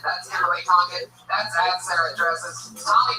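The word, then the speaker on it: Kimberly Congdon: Kimberly Condon, spelled like it sounds, CONGDON. That's Kimberly Condon.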